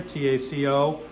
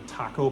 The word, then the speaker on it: Taco: You see that this says Taco up here, T-A-C-O. It is pronounced Taco. It's a very rookie mistake to make if you go in looking for taco parts.